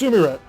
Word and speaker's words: Sumire: It's Sumire. It's pronounced like Japanese, so keep with me for just a second. This is kind of my area of major. Sumire. These are 3 specific Japanese characters.